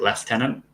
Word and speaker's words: lieutenant: French if I mean we pronounce it leftenant but it's spelled Lieutenant oh getting into our